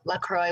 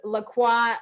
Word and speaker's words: LaCroix: yeah so that is lacroix or i don't know how to really say it but it's um i think it's french and it's spelled l-a-c-r-o-i-x